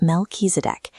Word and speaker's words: Melchizedek: His name is pronounced Melchizedek, and he was very different from the regular priests.